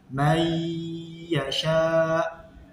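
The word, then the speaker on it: من يشاء: Jadi membacanya may yasha harus dibaca dengung selama 2 harokat.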